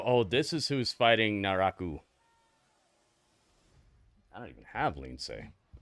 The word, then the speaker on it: Naraku: Yeah, it's Naraku. It's not Naroku.